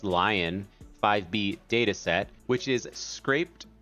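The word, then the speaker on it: LAION-5B: In this case, it is using the, I believe it's pronounced Lion 5B data set, which is scraped non-curated image text pairs.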